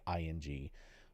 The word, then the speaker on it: Wooting: So yeah, pros are jumping on keyboards like Wooting makes one. I'm overpronouncing it, but just so it sounds right, it's Wooting.